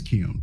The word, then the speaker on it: Keown: yeah, it is Keown. Okay, great. Mhm. Yeah, Well, that's the way I pronounce That's it.